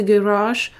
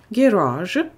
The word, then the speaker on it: garage: Американский вариант. Garage. Garage. Британский вариант. Garage. Garage. То есть британский вариант на первый слог уйдет ударение, американский вариант на второй слог garage.